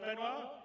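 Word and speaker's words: Benoît: CTO benoir be did I say it right benoir yeah okay good I'm always mad with French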